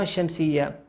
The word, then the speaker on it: الشمس: الشمس تكتب هذه اللام ولا تنطق.